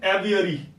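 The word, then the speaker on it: aviary: कर रहे हैं बच्चे it need to be pronounce as एवियरी सो एवियरी इज अ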